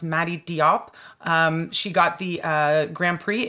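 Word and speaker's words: Mati Diop: this is from director I believe her name is pronounced Madi Diop she got the Grand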